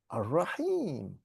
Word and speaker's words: Ar-Rahim: the Arabs decided, okay, we're not going to pronounce the al, because it spoils the beauty of the language. So we say Ar-Rahman, it rolls off the tongue. Ar-Rahim.